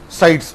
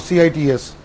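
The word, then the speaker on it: CITES: is called as a sites or cits or it is also called as a scientist that you can pronounce it as a sites or site is whatever may be that and the third convention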